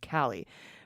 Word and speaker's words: Cali: blind Barn cat rescue named Cali pronounced like the first part of California cie has chosen stoy